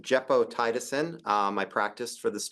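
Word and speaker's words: gepotidacin: move on to a novel antibiotic it is pronounced jeppo tiisin um I practiced for this talk specifically um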